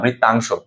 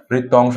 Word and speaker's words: বৃত্তাংশ: করছি, বৃত্ত অংশ না, বৃত্তাংশ, দুঃখিত, বানানটা আমি একটু ভুল করছি, এটা বৃত্তাংশ হবে। বৃত্ত অংশ উচ্চারণ না, বৃত্তাংশ, বৃত্তাংশ, বৃতির অংশ, বৃত্তাংশ, বৃতির অংশ, বৃত্তাংশ।